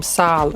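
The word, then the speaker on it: Sayl: How do you pronounce his name? Sal.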